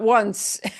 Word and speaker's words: once: 11, Here comes Once. 11. Once. Once. Once. Once. It looks like once. It's not once.